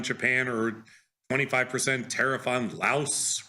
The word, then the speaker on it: Laos: like a 25% tariff on Japan or 25% tariff on Laos rhymes with house.